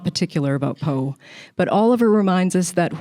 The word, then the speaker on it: Poe: She educates the reader about Emerson, who radiates light, and then she moves to Poe, whose name rhymes with woe.